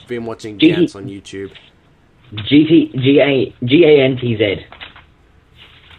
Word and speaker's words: Gantz: I don't know if I'm pronouncing it right. Gantz? I've been watching Gantz on YouTube. G-A-N-T-Z.